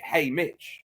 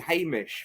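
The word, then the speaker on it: Haymitch: because I feel like you have to pronounce it hey Mitch but I thought they were saying hey MCH for ages I will say uh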